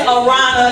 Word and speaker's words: Arana: Cause like my name is Arana, that's pronounced like piranha, but without the P.